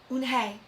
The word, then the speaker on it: Unhei: Yes, it's pronounced Unhei, and it means grace, Mr.